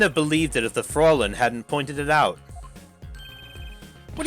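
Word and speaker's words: Fräulein: Okay, Fraulein is how it's pronounced.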